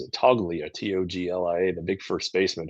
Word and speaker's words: Toglia: Um, Getting rid of, I think he pronounces it Toglia, Toglia, the big first baseman who is kind of a Joey Gallo.